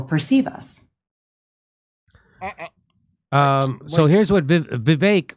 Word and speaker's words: Vivek: So here's what Vivek, which rhymes with stomachache, he says, NPR's new